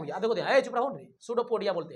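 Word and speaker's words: pseudopodia: इसको क्या बोलते हैं, सूडोपोडिया, क्या बोलते हैं, सूडोपोडिया। सूडोपोडिया नहीं लग रहा सुनने में, एस से, पी से शुरू होता है, पी साइलेंट होता है, ठीक ना।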